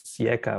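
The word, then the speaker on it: SICA: also for pointing out the exact right pronunciation of the organization which is sieka that was my mistake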